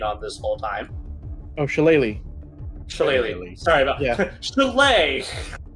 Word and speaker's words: shillelagh: After consulting the great minds of my patron, as a bonus action, I'm going to cast Shalai on the quarterstaff that I've been walking on this whole time. Oh, Shillelagh.